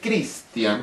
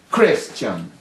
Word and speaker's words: Christian: No sabía ni a quién, si me refería a mí, hasta que aprendí que en el idioma americano, Christian, no se dice Christian, como pronunciamos nosotros, sino dicen Christian.